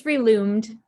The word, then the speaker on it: Relumed: please, is Marita, is that, how do you pronounce it? It's Reloomed.